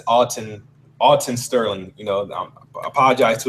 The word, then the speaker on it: Alton Sterling: He said, he wanted to say, for the record, it's Alton Sterling. You know, I apologize to his family if I was mispronouncing his name.